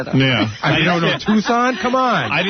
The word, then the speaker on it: Tucson: Listen, I remember one time you pronounced Tucson Tuxen. Listen, everyone makes a mistake. Everyone makes a mistake. That's true. I don't think you studied Arizona, though. Yeah. You don't know Tucson?